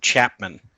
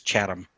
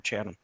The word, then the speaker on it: Chatham: the name wrong, and they said Chapman, but it was actually Chatham. The guy's name is Chatham, just like the store, the old grocery store, Chatham.